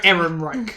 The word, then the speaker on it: Ehrenreich: I think it's pronounced Alden Ehrenreich. Yep. Ehrenreich.